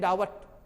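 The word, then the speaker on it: doubt: DUBT डाउट बोलेंगे, इन्हें डावट। इस तरह से उच्चारण में बी को हमने साइलेंट कब किया? जब टी के पहले आया या एम के बाद आया, उस स्थिति में बी का उच्चारण छोड़ना है।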